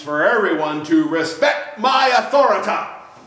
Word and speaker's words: Authoritah: One of his famous sayings in South Park is, "Respect my authority," which he pronounces Authoritah.